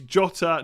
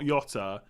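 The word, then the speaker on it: Jota: then fair enough right it is just jotter there's no it's jotter not yatta but within bomber there's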